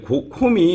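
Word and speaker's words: không: 근데 콤이 우리가 많이 쓰고 있는, 우리는 여기서 발음적으로 중요한 거는 콤이에요. 그러니까 콩이라고 안 읽어요. 그러니까 콩이라고 읽는 거 단어는 따로 있고요. 이 콤 발음이 없어요. 한국에요. 이게 약간 개구리처럼 해야 되거든요.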